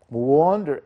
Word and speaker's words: wander: Wander the streets, wander in or around the place. Wander, yes, wander, but it's written with A, مكتوبة بحرف الـ A ولكننا بننطقها W, wander.